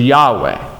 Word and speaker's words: Yahweh: than others but Jehovah which actually more accurately pronounces Jehovah but the actual Hebrew when it was referred orally was a Yahweh so it's very confusing they don't the Jews